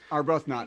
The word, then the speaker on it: Arbuthnot: that is uh arbuthnot just my name are both not which is spelled exactly the way it sounds thank you we'll